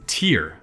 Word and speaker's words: tear: the most common form of this word is tear as a noun and it means the drop